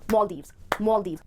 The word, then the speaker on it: Maldives: दो syllables हैं, इस word को आप जब break करोगे तो दो part पे break करोगे, पहला syllable है mall और दूसरा है Deves, जिसमें जो stress आएगा वो पहले syllable पर आएगा, पहले syllable को आपको बोलना है mall और फिर Deves, Maldives. Question, yes, पर ये question नहीं, ये है question.